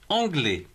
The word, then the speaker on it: anglais: s muette enfin de mou comme par exemple anglais a majuscule n en g l asie est ce que l'on prononce anglais frais fraisse43 mai mais encore pas